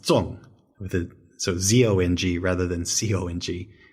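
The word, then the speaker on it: zòng: But there's this other character with the silk radical on the left that would be pronounced Zong, so Z-O-N-G rather than C-O-N-G, and also fourth tone rather than second tone.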